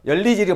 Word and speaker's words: 연리지: 요거 열리지라 그러죠. 두 나무가 합쳐진 거. 많이 쓰죠. 그것도 연리지가 아니고 뭐예요? 열리지를 발음해야 된다 이거죠.